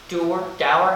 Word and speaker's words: dour: And her father was very, I believe the word was dour, how do you pronounce that word?